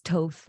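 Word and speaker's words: Thoth: guess just yeah but I've seen people say it's tof or it's those or but honestly I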